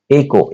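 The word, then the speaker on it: echo: एंड ही एकको। इसको एकको प्रोनाउंस किया जाता है।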